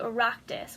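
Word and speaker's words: Oireachtas: another example would be the eractis which is the regional competition and that's spelled a o-i-r-e-a-c-h-t-a-s and it does not look like the word eractus so then the last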